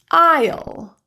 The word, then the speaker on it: aisle: Island, aisle. Another word pronounced the same but different meaning.